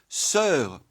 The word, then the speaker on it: sœur: Voilà pourquoi la graphie oe e se lit e. Voilà pourquoi on écrit sœur, cœur, œuf, meur et cetera.